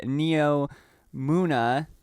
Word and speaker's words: Neomuna: going to be doing the neo muna i believe it's pronounced uh yeah the neo muna